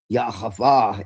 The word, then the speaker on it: Yahweh: Now, the Shekinah is supposed to be the divine feminine, but what you find out is that really Yahweh is, which is the actual pronunciation, is actually androgynous.